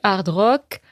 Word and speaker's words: hard rock: Alors, il y a du hard rock comme on prononce à la française sans prononcer le H.